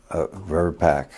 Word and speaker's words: VRBPAC: How does it normally pronounce? VRBAC.